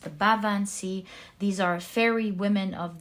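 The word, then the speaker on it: Baobhan Sith: This is the truth, because in this Fool card we see the Bavan Sea is how it's pronounced. The Bavan Sea.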